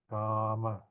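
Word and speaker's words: kāma: Kama. Okay, notice a single M here with a long R. This pronounced R, not A, no? Because we want to remember the sound. Ka, R, Kama.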